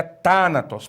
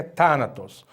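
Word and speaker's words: θάνατος: da palavra né thanatos não é thanatos e nem tão atroz é thanatos porque eu sei que é thanatos por causa do acento agudo que eu vejo na antepenúltima sílaba e thanatos significa morte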